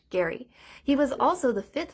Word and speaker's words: Gerry: Massachusetts governor Elbridge Gary that's right it's pronounced Gary he was also the